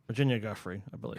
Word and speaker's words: Giuffre: Virginia Giuffre, I believe. Giuffre, okay.